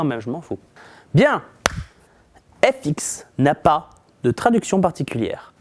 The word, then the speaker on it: FX: Bien, FX n'a pas de traduction particulière. Si vous prononcez avec le bon accent le mot effects et le mot FX, effects, c'est juste une abréviation de effects, c'est tout.